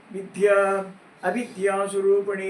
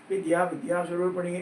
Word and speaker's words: வித்யா அவித்யா ஸ்வரூபிணி: இதை நினைவில் கொள்ளுங்கள்: அது " வித்யா அவித்யா ஸ்வரூபிணி" என்றுதான் இருக்க வேண்டும், ஆனாலும் எல்லோரும் "வித்யா வித்யா ஸ்வரூபிணி" என்றே சொல்கிறார்கள்.